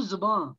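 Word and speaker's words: ज़बान: उर्दू जुबान मैम, उर्दू जुबान। दोनों सही है, दोनों सही है। ये दोनों अल्फाज ठीक है, जबान भी और जुबान भी।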